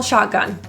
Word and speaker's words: shotgun: I call shotgun. The T in shotgun is pronounced as a stop T. It's stopped in the throat rather than released.